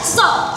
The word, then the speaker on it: suso: Suso. So, the second fall to the second syllable.